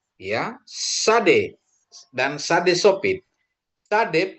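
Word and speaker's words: צדי: Sade pengucapannya dia TS, ya, transliterasinya TS. Nanti kalau dia di depan satu kata, dia di transliterasinya jadi S, itu kalau enggak Z, gitu ya, Bapak Ibu ya.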